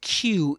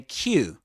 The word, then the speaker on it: queue: video, u the word Q is pronounced just like the letter Q, right?